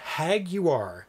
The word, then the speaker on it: Jaguar: actually Jaguar Jaguar yes J's Jays are pronounced uh or hagu are hagu are in Spanish hagu are I think